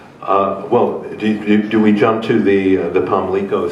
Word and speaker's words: Pamlico: Pamlico. Yes. Pamlico. So the accent is on the first syllable.